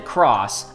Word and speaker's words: χ: So the second season is called Kingdom Hearts Union Cross, again spelled with the Greek letter Chi.